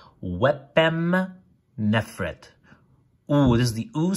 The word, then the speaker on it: Wepemnefret: So that's a P, that's an oo. These are complements. So wep, so this is the word wep. It tells you that you have to pronounce it as an oo and a p, so wep. And m, the m, so wepem, and then neferet, wepemnefret.